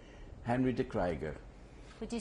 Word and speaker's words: de Kryger: How is your name pronounced at home? De Kryger.